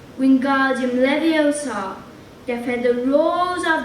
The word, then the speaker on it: Leviosa: arms like a windmill you're saying it wrong harry heard a mighty snap it's regarded leviosa make the sound nice and long you do it then